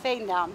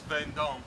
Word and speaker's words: Veendam: Is that how it's pronounced? Veendam. Veendam? Veendam, yes. Veendam. That's not how it's spelled in English, but... But in Dutch, it's Veendam.